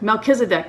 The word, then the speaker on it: Melchizedek: which is the um mezzakis deck mezza kid mel kiss a deck melchizedek that's how you say it hadn't heard of that